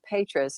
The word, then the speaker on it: Petra: I met some other Petras, and they were from Germany. And it's if you spell it correctly, it's Petra. My mother Americanized it.